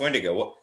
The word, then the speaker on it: Wendigo: So it was just kind of like, no, it's pronounced Wendigo.